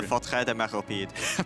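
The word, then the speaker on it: Forteresse de Méropide: The Warden of the Fortret de Meropide. Perfect pronunciation.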